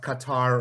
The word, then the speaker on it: Qatar: Okay, we have to talk about Qatar or KQ cutter depending on where you're from and how you pronounce it.